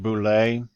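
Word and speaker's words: Boulé: of the website and this pronounced Boulais they are a blockchain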